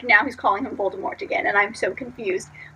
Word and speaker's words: Voldemort: wrong because a compressor in the first audio book he didn't call Baltimore it's folded Mort you called him a little more which apparently is like the right way to say it so I was like